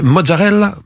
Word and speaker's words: mozzarella: Déjà, est-ce qu'on prononce ? C'est ? Mozzarella.